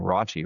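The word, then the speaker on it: Rashee: And he, you know, he has reason to be cuz uh Roi Rice, which apparently is how you say his name. Raji Rice, not Rashid Rice.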